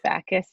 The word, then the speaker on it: Backhus: so can you is is it bakus or bakus it's just bakus back you said it right the first time yeah okay okay and